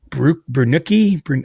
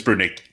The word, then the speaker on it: Brunicki: You know, you had Harrison Brunuki, I should say his name better. Anyway, I think yeah, how do you say it? I think it's Brunick. I don't I would have said Brunicki, but but you